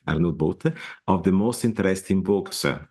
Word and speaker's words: Arnoud Boot: So send them to my website, just Arnoud Boot, Dutch pronunciation, Arnoud with an D, Boot with an T, Boot in English, arnoudboot.nl, and you have it all together.